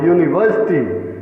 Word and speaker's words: university: यहाँ जो यू है वो कॉन्सोनेंट साउंड दे रहा, यूनिवर्सिटी, इसीलिए यूनिट, यूनिट, यू भी है यहाँ, यूनिक, यूनिक या यूनियन, यहाँ सभी में फर्स्ट लेटर या है। Here all the first letters start from ya and ya gives the consonant sound.